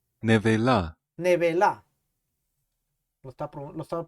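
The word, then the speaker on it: נבלה: mortecina comeréis, pero esta palabra en hebreo dice neveila, Nevela, nevela. Lo estaba pronunciando mal.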